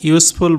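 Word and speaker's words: useful: This is ইউজফুল book for research, ইউজফুলের উচ্চারণ ইউ এর মতো হচ্ছে, সুতরাং এটার আগে আর্টিকেল এ বসবে।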